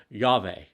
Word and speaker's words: Yahweh: The Hebrew name of God comprises 4 Hebrew letters that would correspond to the Latin letters Y, H, VH, or we would pronounce it adding the syllables or the vowels, Yahweh.